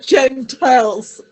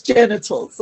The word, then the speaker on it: genitals: It's not Gentiles. You were saying Gentiles, and we don't have Gentiles. So it's genitals.